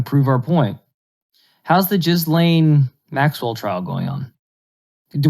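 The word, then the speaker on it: Ghislaine: how to play yeah it's just lane it's just lynn i looked it up i'm not saying that very confident i'm not being racist i'm not talking about i'm just saying that like you're saying it's pronounced just it's yeah it's not gizzling or something like that you can't write this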